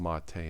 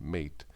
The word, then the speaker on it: MATE: and if anybody's we know wandering it is pronounced Monta and not mate the developer for a boon to Monta doesn't